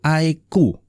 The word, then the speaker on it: iQOO: iQOO, iya bacanya tuh iQOO, iQOO bacanya iQOO.